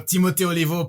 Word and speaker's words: Timo Oliveau: Yeah, no, Timo Oliveau, perfect. I appreciate all of the weird pronunciations of it.